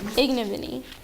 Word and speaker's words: ignominy: Ignominy. Ignominy. Oh, and make this correction right now. The syllable the accent's actually on the first syllable, not the second one.